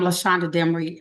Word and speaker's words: Lashonder Demery: yes uh actually um by the way I'm LESA demy I think you said that before you did pronounce my name correctly okay and yes so